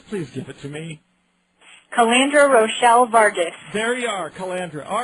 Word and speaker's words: Calandra Rochelle Vargas: And I want to make sure that I don't get the pronunciation wrong. Ms. Vargas, please give it to me. Calandra Rochelle Vargas.